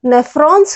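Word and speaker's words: nephron: और जो वेस्ट होता है वो नेफ्रॉन्स के द्वारा, नेफ्रॉन्स, इनको हम नेफ्रॉन प्रोनाउंस करेंगे.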